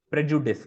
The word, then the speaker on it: prejudice: you I think yeah you are adding the you after the D that's out of the D yes right you're making it as Prejudice right so Prejudice Prejudice Prejudice right thing